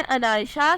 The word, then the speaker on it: Anaisha: नाम है अनायशा, स्पेलिंग है ANAISHA, मीनिंग है ख़ास या काबिल इज़्ज़त।